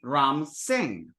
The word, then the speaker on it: Ram Singh: drop it off so someone whose name in Sanskrit would be ramas singha would be Ram Singh mahim mahesha becomes becomes